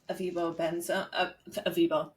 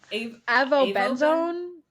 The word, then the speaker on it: avobenzone: This sunscreen has avibenzone. How do you pronounce it? Avobenzone.